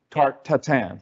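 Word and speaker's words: tarte tatin: for pear tarte cotton is that how you say it oh tarte tart tatan thank you like apple tart to 10 yeah this was pear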